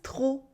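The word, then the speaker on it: trop: you can also use TR with a silent p usually means too much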